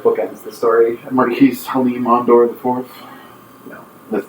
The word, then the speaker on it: Marquis: They pronounce the word Marquis as Marquis. Is there any basis for that in language? No. That's French, right? Yeah. Do you know what it means in French? It's just like, I don't know. It's a title, right? It's a title. I don't know if it has an actual title translation. You call me Marquis. It's Marquis. Oh, also... You don't pronounce the S.